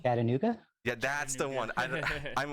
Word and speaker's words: Chattanooga: Chatunga Film Festival. What's the other one you going to? I always say it wrong. Chattanooga?